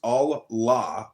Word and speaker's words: Allah: The God in Arabic will be Allah, pronounced Allah, or Allah, which is simply God with a capital G.